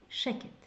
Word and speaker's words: שקט: Yeah, it's very easy to remember because like shh, sheket.